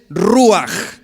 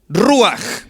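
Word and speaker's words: רוח: Y apúntele, la palabra espíritu en el hebreo del Antiguo Testamento es ruaj. Ruaj con J al último.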